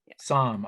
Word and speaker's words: Sahm: so right now uh if i've been mispronouncing your last name i could call you som okay i've been sam i've been saying sam okay i'm dyslexic not